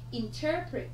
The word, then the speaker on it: interpret: Interpret. Chúng ta có động từ trọng âm dêm tích thứ hai này.